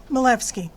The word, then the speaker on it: Milewski: is spelled m-i-l -e-w-s-k-i easier pronounced if you ignore the W uh milefsky um I'm just here